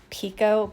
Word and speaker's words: picot: And then I'm starting a piece of, this is picot, it's pronounced picot, but I want you to be able to find it.